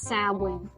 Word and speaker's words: Samhain: It's pronounced Samhain. Right, Samhain is a festival celebrated by ancient Britain and Ireland.